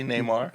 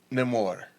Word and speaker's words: Namor: When one on screen, I'll say Neymar. Neymar, okay. Is that the way to pronounce it in the movie? Namor. Namor. Namor. Yeah.